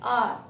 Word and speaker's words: hour: Pronounce करते हैं, तो जो ये एच है यहाँ पे क्या है, एच साइलेंट होता है, और इसे हम पढ़ते हैं आर.